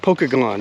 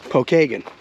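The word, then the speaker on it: Pokagon: I keep wanting to say like Pokemon, Pokeagon, you know. No, it's Pokeagen.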